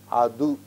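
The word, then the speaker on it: அது: Now you have to remember this is tu. Because this is preceded by another letter, it assumes the sound of du, adu, that.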